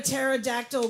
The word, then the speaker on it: pterodactyl: Why can't you hear a pterodactyl go to the bathroom? Ah! He got it. The P is silent.